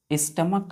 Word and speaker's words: stomach: है स्टमक, यानी कि सी एच की जगह हम क्या पढ़ते हैं, यहाँ पे के पढ़ते हैं, इसको नोट कर लीजिएगा, स्टमक, फुल स्टॉप दे दीजिएगा।